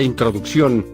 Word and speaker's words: introducción: Por ejemplo, la palabra introducción, colocamos cada sílaba en un recuadro, y vemos que lleva la mayor fuerza de voz en la última sílaba.